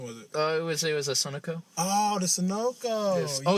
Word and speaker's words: Sunoco: It was a Sunoco.